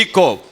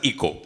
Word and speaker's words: eco: Echo children from today please pronounce it as echo echo because when you go for any International debates and seminars it's acceptable to pronounce it as Echo and not as Eco even though the spelling is EO Echo means Echo means